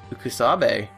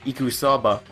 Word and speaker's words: Ikusaba: Mukuro Ikusabe. I see. Class 78 student registry. Mukuro Ikusabe. Or Ikusaba, I think. I pronounced it properly before, but tonight I'm just being casual.